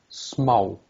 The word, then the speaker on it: smá: How do you pronounce that? Smá. No, just the letter Oh, okay. on the chat. Já. Á. Ow. Okay. And so smau. And if it was written like that, Smá.